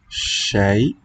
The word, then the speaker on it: شيء: Shay, with the final glottal.